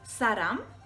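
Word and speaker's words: 사람: So that's because of the way that it is spelt, okay? So the word for person is saram, okay, which is saram, okay?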